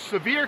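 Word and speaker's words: Sevier: living in Seaver County it's actually pronounced severe County but I call it I'd now pronounce it Seaver County and you can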